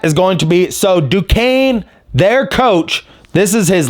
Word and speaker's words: Duquesne: Duquesne Dukes. They play against BYU at 12:40. That is going to be, so Duquesne, their coach, this is his last season, Keith,